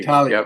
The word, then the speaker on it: Tartaglia: There's no, you don't pronounce the G. Tartaglia.